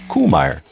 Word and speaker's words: Kuhlmeier: Go update your case books, your notes, your PowerPoint presentations to Koolmmy. Yeah. Uh my mind is still blown that I've been mispronouncing it.